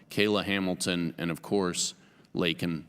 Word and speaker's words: Laken: Hamilton, and of course, Laken Riley, not Lincoln.